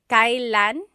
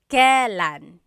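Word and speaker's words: kailan: It's pronounced kylan kylan but you will often hear it pronounced kalan.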